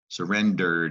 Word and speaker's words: surrendered: surrender has a needy ending but you don't pronounce the e like you didn't surround ed surrendered it looks like it sounds like dirt and